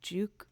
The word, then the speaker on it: Juke: done by a remixer by the name of Juke Remix, like jukebox.